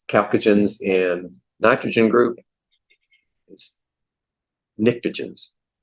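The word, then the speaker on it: pnictogens: yeah halogens yeah yeah uh 16 is calcagens and nitrogen group is nictages the p is silent yeah nitrogen group yeah the P Asylum yeah there you go okay 34.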